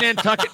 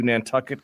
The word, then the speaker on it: Nantucket: you can think would n tuck it might rhyme with bucket that's yes uh well it looks like John John balushi was uh his grave was moved to Nantucket to protect it from